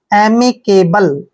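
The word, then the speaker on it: amicable: ए बी एल ई देखिए का उच्चारण ए करते हैं और एम का उच्चारण मैं करते हैं आई को ई की मात्रा पढ़ते हैं सी का उच्चारण यहां पर के करेंगे क्योंकि जब भी सी के बाद ए आता है तो सी का उच्चारण हम क करते हैं बी को हमने ब पढ़ना है और एल ई को ल पढ़ते हैं एम केबल एमी केबल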